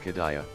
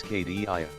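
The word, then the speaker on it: Cadia: No Geronimo, it's not Kadaya, it's KDIA. Geronimo, you said the place name wrong.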